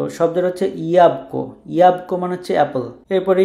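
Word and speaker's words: jabłko: সো শব্দের হচ্ছে ইয়াবকো, ইয়াবকো মানে হচ্ছে অ্যাপল।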